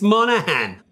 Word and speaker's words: Monaghan: The secret here is that the G, thank you William, is silent. So if you don't pronounce the G, it's Monahan.